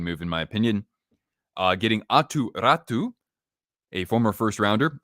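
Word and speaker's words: Aatu Räty: Getting Atu Ratu, a former first rounder. I have to say it like I'm Finnish because I have Finnish friends.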